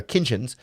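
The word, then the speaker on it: Kinchens: a safety like Cameron Kinchins, who I always pronounce a T in that word, his last name that isn't actually there, Kinchins.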